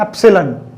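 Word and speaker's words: epsilon: Pronunciation क्या है B, तो इसकी प्रोनाउंसिएशन क्या है, एप्सिलॉन. क्या बोलते हैं इसको, एप्सिलॉन.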